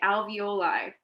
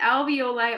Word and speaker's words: alveoli: these structures called the alveoli now this is not pronounced ravioli the alveoli are air sacs in